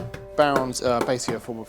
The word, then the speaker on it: Bodhrán: And there's lots of different ways to pronounce it, but I've been told Bodhrán is the proper way to pronounce it.